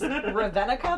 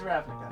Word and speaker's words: Ravnica: Which apparently is Ravenica based. I didn't know that. Ravnica? Ravnica? Ravenica, Ravnica, I That's don't how know. I pronounced it until I heard David say it. So. Yes, it's Ravnica.